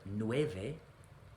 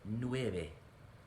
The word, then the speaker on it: nueve: ocho pure vowels nine remember the v in the middle of a word actually a v anywhere in spanish we want to pronounce it like a b so instead of nueve we want to say nueve with our lips ten here we have